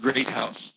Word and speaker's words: Groothuis: It's actually pronounced Groothuis, which is not how it's spelled.